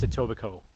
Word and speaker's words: Etobicoke: much pronounce it no it's pronounced etobicoke the k on the end for some reason is silent not sure local mcdonald's